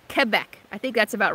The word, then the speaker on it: Quebec: Yeah, you do pronounce it Quebec.